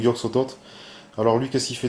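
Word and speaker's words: Yog-Sothoth: Souvent les anciens ont une prononciation de leur nom un peu particulière, donc bon, après moi je prononce comme c'est marqué sur la carte. Donc Yog Sotot.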